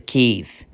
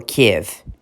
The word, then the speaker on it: Kyiv: The capital city is Kyiv, or Kiev, whichever. There's two pronunciations.